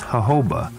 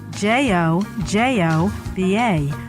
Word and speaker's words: jojoba: Z on this edition of the natural medicine chest will discuss jojoba the miracle plant of the desert Ahava is spelled jo-jo ba but is pronounced according to its Spanish origins the hobo plant grows